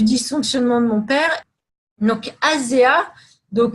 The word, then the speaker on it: ASEA: Donc, ASEA, donc moi je le prononce à la française, hein, on devrait dire à SIA, ils disent comme ça.